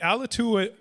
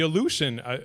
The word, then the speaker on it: Aleutian: is actually alaska uh the ala tua the aleutian sorry i should get the pronunciation right on that the illusion islands extend into the